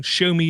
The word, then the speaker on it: Xiaomi: And again, Show Me is spelled Xiaomi.